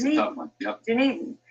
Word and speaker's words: Dunedin: Dunedin. It's spelled so differently, that's why it's a little bit tricky there.